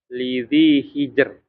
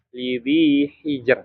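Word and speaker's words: لذي حجر: Lidhi hijr. Nah, bukan lidhi hijr. Nah, kalau ada yang baca lidhi hijr kurang tepat dia. Karena harusnya bacanya tipis.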